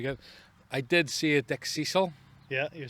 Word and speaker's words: Dickcissel: Well, it's Dickcissel.